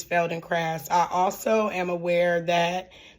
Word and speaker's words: Feldenkrais: But I now know that the proper way to pronounce it is fel and craft.